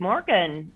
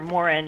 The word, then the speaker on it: morgon: Oh, well, good morgen, or Morin, I said. I guess you don't pronounce the G's there, so sorry about that.